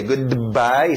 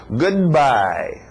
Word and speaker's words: goodbye: Igual o choque de o D com o M em good morning, então o D e o B. Goodbye, choca, então engole o D. Goodbye.